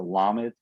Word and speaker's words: lamed: page 8 is a lamed. It looks something like that. how do you say it? Lamed, Lamed? lamed with like an L sound. Not like- llama, but lamed.